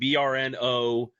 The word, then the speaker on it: Brno: BRNO, BRNO is pronounced Brno, and it's named after the city.